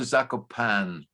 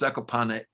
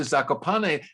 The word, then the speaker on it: Zakopane: Everybody who looked at the writing said train to Zakopane. They didn't pronounce the E. Uh-huh. It is pronounced Zakopane.